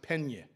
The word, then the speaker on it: Piana: Piana, he says, well, we don't pronounce it Piana, we call it, I can't even do it with the Ukrainian accent. He said, we pronounce it Penye.